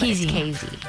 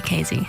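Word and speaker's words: Keezy: looks like key it's KZ it's really KY that's how you pronounce it it's a Dutch nickname dut yeah KY is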